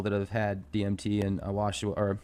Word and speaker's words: ayahuasca: When you talk about the DMT experiences, I've spoken with several people that have had DMT and ayahuasca, or how do you pronounce that?